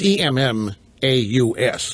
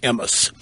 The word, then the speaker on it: Emmaus: the Emmaus code it's emm aus looks like Emmis or a moss but it's pronounced the Emmaus code finding Jesus in the